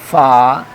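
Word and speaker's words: ف: one dot upside, and the pronunciation place is this, that upside root will touch to the downside lip, then this will be pronounced fa, fa, fa, like this.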